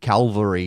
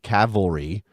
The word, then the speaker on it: Cavalry: mispronunciation last time because I said Calvary instead of Cavalry yes I know those